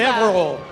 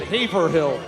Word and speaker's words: Haverhill: My first time I moved up here, I had to pronounce it Haverhill. That was wrong. I got quickly, I think Matt West fixed that for me really quickly. Good. Haverhill. But now you're basically Again, you're a native.